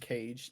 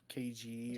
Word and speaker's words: Kaje: That's how it's pronounced, Cage, not KG or whatever.